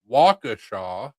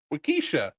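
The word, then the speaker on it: Waukesha: and like I just made a joke as we were going by Wakaashaw and I was like oh wakesha Lena thought I was being serious and I WAS LIKE NO IT'S WAKAASHA. He's like it looks like Wakkesha. I was like it does but it's not.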